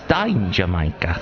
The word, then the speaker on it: Dangermaker: That's the proper way to say it, is Dangermaker.